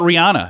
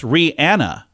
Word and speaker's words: Rihanna: how she says it how about Rihanna no it's Rihanna um who else on